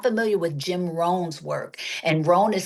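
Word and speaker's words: Rohn: Jim Ran. If you're not familiar with Jim Ran's work, and ran is spelled R O H N.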